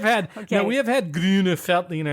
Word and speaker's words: Grüner Veltliner: okay we have had greener feltina in the past wait is are we gonna make people mad by doing that by pronouncing it correctly with the correct answer I figure if you're a German speaker or you're from Austria you will appreciate that we are trying to pronounce it right right and we're only